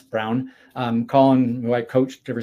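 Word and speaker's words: Colin Braun: You want to see a brilliant lap at Mosport, go to YouTube and find Colin Brown, B-R-A-U-N. Most people pronounce it Braun, but it's Brown.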